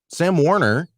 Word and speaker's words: Sam Warner: Sam Warner, and I'm pronouncing that right?